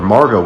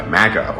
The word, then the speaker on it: Margot: where they call her Margot when an Australia is pronounced Imago I think people with Australian accents normally have the letter R be more silent when it's in between